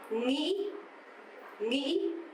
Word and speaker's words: nghĩ: But the northern accent, nghĩ, nghĩ.